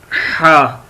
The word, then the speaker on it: ح: اس کے بعد ہے ہا. کیا ہے؟ ہا. ہا کے اوپر نقطہ نہیں ہوتا اور اس کو لکھتے ہیں، میں آپ کو بتا دیتا ہوں کیسے لکھتے ہیں. یہ ایسے لکھا جائے گا ہا.